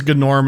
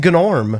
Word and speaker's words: Gnorm: I think we have to emphasize that we were saying we said his name is Ganorm as a joke at first, but then it turns out his name actually is Gnorm.